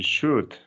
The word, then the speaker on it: should: You should. Yeah? Yeah. Okay, perfect. Should. Remember, the Should. L, the L, Should. don't pronounce. No pronunciamos la Oh, L.